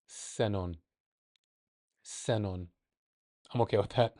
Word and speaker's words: xenón: But if it's in the beginning, it's like an S or a sh, ship. So, okay, so let's go back. Let's see what we do with that information. S, xenon.